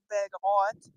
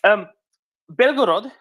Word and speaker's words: Belgorod: Belgorod, or Bilhorod, if you prefer the Ukrainian spelling of the name or Ukrainian pronunciation of the name, is a town just across the border from Kharkiv.